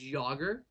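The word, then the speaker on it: Jágr: He was he's commonly referred to as Yogger, which is his last name, which is spelled J A G- R.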